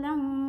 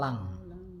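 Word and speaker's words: لن: Waqalu lang tamasyanan nar illa waqalu lang. Sebentar. Itu sebenarnya bukan lang. Itu kan kalau bacanya lang itu kan berarti ng kan? Itu lan. tetap lan, cuma lidahnya nggak nempel gitu loh.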